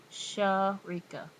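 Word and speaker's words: Shareka: it then well wow and it's actually um pronounced sha rika s-h-a-r-e-k-a i know you guys wouldn't do that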